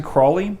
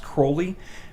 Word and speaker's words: Crowley: aleister crowley he liked his name was actually crawley but he liked it pronounced crowley because it was like a uh parody of holy oh is there a